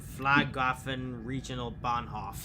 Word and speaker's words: Flughafen Regionalbahnhof: And next up is the Frankfurt am Main Flughafen Regional Bahnhof. Gateway Gardens is recognizable, and what you were just trying to pronounce is Flughafen Regionalbahnhof, and that means Airport Regional Station.